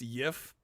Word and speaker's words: GIF: It's not GIF. It's not GIF. It's YIF. Oh my fucking god. Special case because the creator defined the pronunciation.